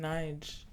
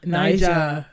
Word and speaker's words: Naija: So is that what's happening with Queen Nige? Oh, is it Clarence? Yeah. Did I say her name right? Queen Naija. Naija, yeah.